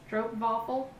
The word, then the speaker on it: stroopwafel: don't with the stroopwafel try pronouncing it like that Stroeve awful I remember it was a it was a rolled R and a hard a so it was more like yeah it is more like through Bothell something that was the